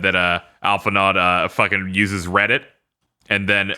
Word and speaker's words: Alphinaud: I keep saying Alphinaud because that's how it's spelled, but it's French, so it's Alphinaud.